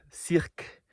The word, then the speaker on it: cirque: This is called the Cirque for "Cirque" for the proper French pronunciation, As you can tell it's pretty deep, about 1500 feet deep.